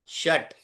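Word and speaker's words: षट्: चत्वारी चत्वारी पंच पंच षट ट अब ट में देखिए ट आधा है इसलिए पूरा उच्चारण नहीं है।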